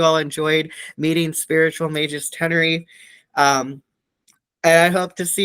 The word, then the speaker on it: Tenerife: Am I pronouncing that Tenerife. correct? Perfect. You're the only person that ever said Tenerife properly. Americans always go Tenerife.